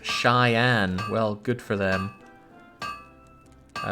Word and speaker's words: Cheyenne: Stock Nasty pointing out to me that Cheyenne is pronounced Cheyenne.